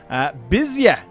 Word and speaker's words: Bizia: Bizia, as their capital. That's very good pronunciation, by the way, everyone. That's exactly how it's pronounced.